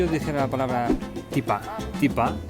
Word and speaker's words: tipá: Tipa es tetera, británico, teapot, llanito, tipa. Es decir, han cogido esta palabra británica y le han puesto la pronunciación andaluza.